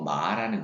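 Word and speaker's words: 麻: 그런 의미도 있기 때문에 이것을 중국어로 마라고 읽어 주면 되겠어요. 여러분 화살표가 끌어올려지는 모양이 있으니까 여러분들또 그냥 마 마 이런 식으로 읽으시면 돼요.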